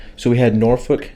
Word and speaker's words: Norfolk: right so we had norfolk norfolk that's how virginia people say it norfolk norfolk but it's spelled north folk okay norfolk versus app